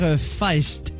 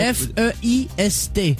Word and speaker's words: Feist: Ah, vous dites Feist? Ça s'écrit comment? Ça dépend. F-E-I-S-T. Non, tu peux dire Feist, non? C'est Feist.